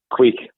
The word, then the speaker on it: quaich: How about a quake or a quaich? How do you pronounce that? Yeah, quake. Yeah, quake. So it's spelled Quaich is a quake.